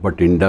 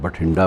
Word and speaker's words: बठिंडा: बठिंडा भी बोलते हैं उसको, BH स्पेलिंग जोड़कर बोलते हैं, आम ज़ुबान में बठिंडा बोलते हैं।